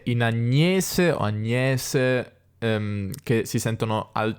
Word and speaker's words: Agnese: dello zucchero sentiamo che al nord le persone dicono agnese con una milanese non agnese di agnese manzianese sentiamo il